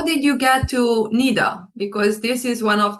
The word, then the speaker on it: NIDA: or it's an id yeah no no no it's yeah it's uh it's naida yeah okay how you